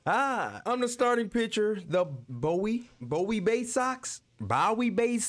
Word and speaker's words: Bowie: Bay Sox first pitch coming your way next Bowie is how they pronounce anytime you have five pitches to work